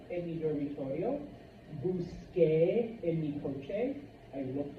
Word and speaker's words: busqué: the same in English, the C before an E does not make a K sound, it makes a S sound. So this would be Busé, Señor Santos, which is not the way it's pronounced. In order to get the correct pronunciation, we change the C to a QU, and now we add our E with an accent.